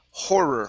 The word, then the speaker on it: horror: Um next up is horror Make sure to pronounce that H Horror Horror There you